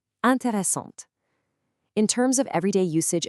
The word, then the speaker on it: intéressante: like Lisa, it literally forces you to pronounce the consonant right before it. The e makes the t sound pop. Intéressante.